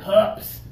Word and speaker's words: cup: probably a lot of cups in the park for people drinking okay cups got to have the pressure Stephan give it a